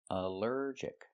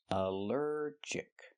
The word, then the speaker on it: allergic: Allergic is three syllables. Allergic. The stress is on the second syllable. Allergic. Allergic. Here the ALL is not pronounced all but pronounced uh like in cup and up because it's not stressed.